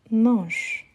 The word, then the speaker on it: mange: Il mange. Parfait. N'oubliez pas, on ne prononce pas ENT. Donc, il mange.